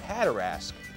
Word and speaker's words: Hatteras: And it sounded like Hatterask. And so they said, let's spell it so that the way it sounds. And as time passes and they redo the maps, the spelling changed and it started to sound like Hatteras.